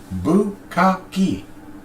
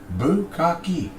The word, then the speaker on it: bukkake: No, Bukkake is 3 syllables. Bukkake. Bukkake. 3 syllables.